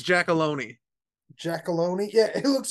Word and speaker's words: Giacalone: It's Giacalone.